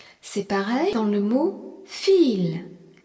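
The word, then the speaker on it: viel: Vi, c'est pareil dans le mot fil. V I E L qui signifie beaucoup. Le I e est un long et le V se prononce feu.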